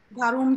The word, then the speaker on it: warum: কেন আপনি, হ্যাঁ warum যেটা, কিন্তু উচ্চারণটা একটু গয়ের মতো করবেন, warum lernen Sie Deutsch?